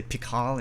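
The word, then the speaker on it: PiHKAL: people pronounce them differently some people say pickle and tickle some people say pikal and tikal i sort of suspect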